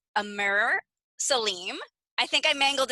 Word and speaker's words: Amr: it properly the first name is amir and usually my scottish friends would call me amer and roll the rs and uh the reason